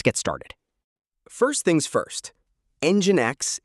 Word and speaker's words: NGINX: First things first, Engine X is pronounced EngineX.